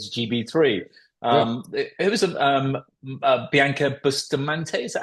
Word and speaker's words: Bianca Bustamante: driver going into GB3 um it was um Bianca Bustamante is that how you pronounced last McLaren yeah she's going into Formula